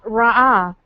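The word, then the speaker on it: ראה: The word for behold there is ra'ah. It's spelled resh, aleph, hey. It sounds exactly like the term for shepherd, which is also ra'ah. The difference is it's spelled with the ayin instead of an aleph.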